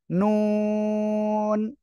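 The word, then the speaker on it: نون: লিখলাম খেয়াল করেন সবাই এই যে জিহ্বার আগা তার বরাবর উপরে তালুর সঙ্গে লাগিয়ে আমরা এই অক্ষরটা উচ্চারণ করব নুন সবাই একসাথে বলেন নুন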